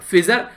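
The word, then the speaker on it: Pfizer: तो दो कंपनी, एक यहां पर फिजर, ठीक है, दूसरी यहां पी साइलेंट है यहां पर, ठीक है, और दूसरी यहां पर यह मोडरेना, ठीक है।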